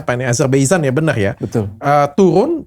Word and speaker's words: Azerbaijan: ada lagi kejadian di azerb Azerbaijan ya jadi Bacanya apa nih Azerbaijan ya benar ya Ee turun sampai menewas kan